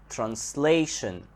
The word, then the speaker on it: translation: on the second part when we change it into a noun translation translation we notice that the stress here comes on the second syllable the word similar similar